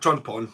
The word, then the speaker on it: Pawn: John Pawn. The name does stick, and it's obviously you say pawn to rhyme with porn because it's.